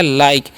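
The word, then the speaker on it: like: के ई ठीक है तो एल का वचन क्या करना है ल आई का वचन यहां पर आई होता है ठीक है तो हो गया लाई और के का उच्चारण क तो हो गया लाइक लास्ट वाला इ का उच्चारण यहां पर नहीं होता है ठीक है तो लाइक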